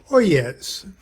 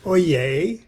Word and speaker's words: oyez: our lodge haru raja lodge periodical our journal oh yes now we call it i know it's pronounced oye as in hear ye all or attention but